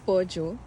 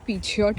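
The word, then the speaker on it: Peugeot: आहे आमची न्यू कार याच नाव आहे पजो जे मला स्पेलिंग प्रमाणे पिझट वाटायचं ्याच प्रोनन्सिएशन पजो आहे अशी मी तुम्हाला बाहेरून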